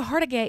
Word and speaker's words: Hargitay: Mariska The Hargage? First time that I said it, Mariska Hargitay is the girl's name.